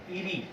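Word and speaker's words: eerie: Then with ईरी, the pronunciation of this word is ईरी, okay.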